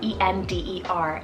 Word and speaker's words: Ender: on the edgy side we have ender so e-n-d-e-r ender now this one's a turkish rooted name